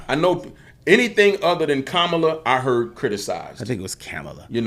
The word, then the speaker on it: Kamala: how's it is it her name is comma pronounce her name kamla Harris it's kamla yeah but people be purposely like the controversy